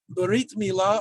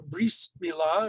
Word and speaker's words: Brit Milah: Brit Milah, or Bris Milah, if you use Ashkenazi's pronunciation, and that's why it's often called a bris, is ritual circumcision.